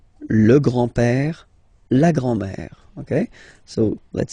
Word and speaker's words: père: Le grand-père. Remember, accent grave like that. It's this opened père. Le grand-père. Le grand-père. And then the feminine form, grandmother, la grand-mère. La grand-mère. Okay, so les grands-parents, le grand-père, la grand-mère.